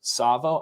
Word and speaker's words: Tsavo: Okay, so this story that I'm talking about, this was called, it's the TSAVO, Savo. I'm going to say this T is silent.